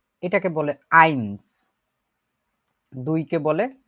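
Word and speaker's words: eins: তারপরে যেটা 1, যেটা বাংলায় 1, এটাকে বলে আইনস।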